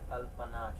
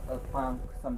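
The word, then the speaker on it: Alpnach: हाँ, हम इंग्लिश बोलते हैं अल्पनाश क्योंकि लिखा हुआ है, पर उसको अल्पांक अल्पांक बोलते हैं।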